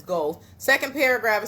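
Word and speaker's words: Goethe: talk about go um I always say his name wrong but it's go second paragraph it says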